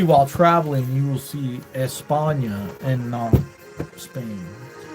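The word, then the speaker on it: España: e-s-p-a-n-e yes ate p-a-n-i-a-n i think espana because that's how they say it in spain it's espana but here in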